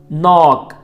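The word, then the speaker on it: know: नॉक नॉक, इसका के silent है, इसको कनॉक नहीं बोलेंगे बल्कि नॉक बोलेंगे, नॉक। दस्तक देना यानी दरवाज़ा बजाना, नॉक नॉक्ड। नो, इसका भी के साइलेंट है यानी कनो नहीं बोलेंगे बल्कि नो बोलेंगे।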